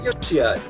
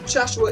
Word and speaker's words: Yoshiya: seem to be mistaken the proper pronunciation is yoshiya or for my first name curious my last so uh joshua is not exactly accurate this isn't the joshua